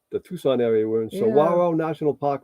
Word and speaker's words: Saguaro: Yeah, Saguaro. Or both of us to teach. And Sue taught me how to spell it last night because I guaranteed would have spelled it wrong.